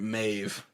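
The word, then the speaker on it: Maeve: Mave.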